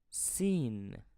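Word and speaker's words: سين: with the first one which is seen seen the letter scene is like the English S as in the word c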